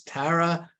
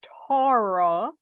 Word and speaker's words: Tara: how to say this I'd like to introduce Tara rhymes with a flat cat right well I guess so black cat I please you because sometimes people say Torah right and sometimes people say so I taught I taught Rick here to